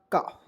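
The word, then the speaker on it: calf: से होता है फ तो क्या हो जाएगा काफ और काफ मीस क्या हो दोस्तों बछड़ा जो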